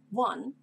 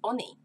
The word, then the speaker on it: one: spelling of the word for instance one which is not Ani and with all those